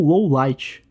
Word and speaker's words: Lawliet: a conclusão é que Lowliet deveria ser pronunciado da mesma forma, ou seja, como low light.